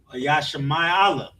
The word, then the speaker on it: Ishmael: Ishmael, Yashama'ala. Mhm. That's the Arabian people, Arabs. We got Yasha ma i and a and la. Yasha and ma ma and i connect as my. A la. Yashama'ala. That's in the ancient here in the Paleo. In Assyrian, Yasha ma i a la. Ishmael is correct.